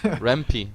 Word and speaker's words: RMP: Rampy, like Rampy, few of yeah. us, if you read in the Twitch chat, he actually explained how to pronounce these people. It's like Rampy.